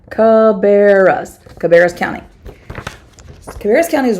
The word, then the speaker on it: Cabarrus: County I love that it gives us the pronunciation guide cabarras Cabarrus County Cabarrus County